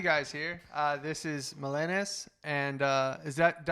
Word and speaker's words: Melenas: to have you guys here uh this is milenas and uh is that do i pronounce it right melanis melenas yeah okay perfect awesome uh so do you